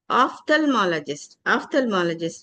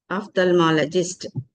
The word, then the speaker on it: ophthalmologist: So eye specialist, the one word substitute for eye specialist is ophthalmologist. A doctor who treats eye diseases is called as a ophthalmologist, not ophthalmologist, because ph will pronounce as a fa, phone, phone.